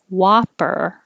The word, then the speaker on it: whopper: Burglarized, which made us think of hamburger and cheeseburger and whopper. That one looks like an O, but it sounds like an ah.